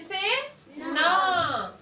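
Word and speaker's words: scene: है ये क्या है यहां एस के बाद सी ई है तो क्या साउंड हो जाएगा यहां साइलेंट क्या है सी सी साइलेंट है हां तो सी इस पूरे को क्या प्रोनाउंस करेंगे सी और एन से ना सीन ठीक और इसे क्या प्रोनाउंस करेंगे इसे भी सीन प्रोनाउंस करेंगे तो यहां दोनों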